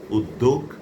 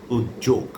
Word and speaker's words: উদ্যোগ: এই শব্দটির একটি উচ্চারণ রূপ হচ্ছে উদ্যোগ আরেকটি হচ্ছে উদ্যোগ। দুটি শুদ্ধ অভিধানী।